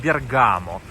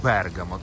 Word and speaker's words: Бергамо: На постсоветском пространстве этот город часто называют Бергамо, но в Италии правильно говорить Бергамо, то есть с ударением на первое.